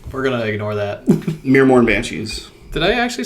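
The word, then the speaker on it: Myrmourn: Muirmorn Banshees? They're pretty rad. So they can't see through their veil. Or, I said it wrong again, but we're going to ignore that. Mirmorn Banshees.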